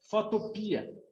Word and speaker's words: Photopea: É assim que se escreve. Com PH, né? Pia. Só para recapitular aí, caso seja a primeira aula de alguém, Photopea.